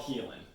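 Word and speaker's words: Haelan: stor and it spelled it's spelled weird it's spelled like the old English way so h a e l n n sorry h a e l a we okay but it's called Heen okay okay but it's an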